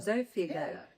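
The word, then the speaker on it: Xofigo: So turning now to combination data and that oh for the night I pardon the pronunciation exopigo zigo zofigo which is radium 223 dchloride uh the data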